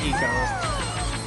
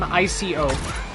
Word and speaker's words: ICO: ICO. You're talking about Eco, right? I'm pretty sure it is pronounced Eco, not Ico.